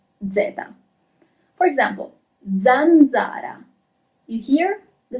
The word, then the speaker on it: zanzara: Okay, is it a little bit more clear how the letter S is pronounced in Italian? It's S, okay? And now let's see letter Z, Zeta. For example, zanzara.